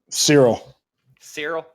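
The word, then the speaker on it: Ciryl: He's fighting Surly Gain? Yeah, Cyril. That's how you say it.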